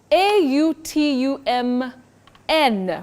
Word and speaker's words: autumn: about a season and Betty you say autumn okay autum not autum not autum because that n is silent and at the beginning